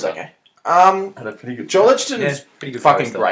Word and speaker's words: Joel Edgerton: joining with Will Smith and Joe Egerton. I knew you'd say it wrong. I read Joel Edgerton on your notes and I was like, he'd say it's Joel Edgerton.